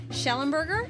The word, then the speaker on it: Shellemberg: I'm delighted to be sitting down and Drew, I'm hopefully I'm pronouncing your last name correctly. Shelonburgger. Absolutely. You got it.